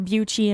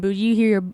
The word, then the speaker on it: Bucci: But you hear both. You hear Bucci and Bucci.